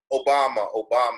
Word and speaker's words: Obama: Okay, well, I remember, I'll just use an example of what happened during 2007 when all the excitement was in Obama, it rhymes with Osama, right?